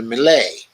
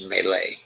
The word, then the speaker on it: melee: that led up to the malay the melee i think that's of the way you pronounce melee some have begun to